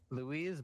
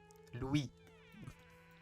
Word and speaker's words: Louis: fine L by uh Louise bonapart Lou the S is silent ideology Bona partis I